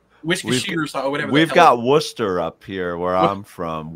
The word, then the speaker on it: Worcester: it's like we've got Worcester up here where I'm from Worcester it looks like War Chester but that's not what it is uh Brad uh we're